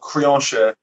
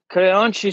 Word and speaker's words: Creonte: I guess the English term would be traitor, but in the Brazilian Jiu-Jitsu culture, we have a term called Creonte. Creonte. I'm awful with the pronunciation. Creonte.